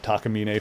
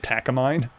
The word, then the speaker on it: Takamine: There's a uh guitar company called Takamina. Funnily enough, a lot of English speaking people call it Takamine, which I guess you could like it's a common pronunciation of the guitar brand in English.